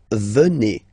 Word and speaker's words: venez: Then classic ending for vous, z here, and then you pronounce it et, vous venez.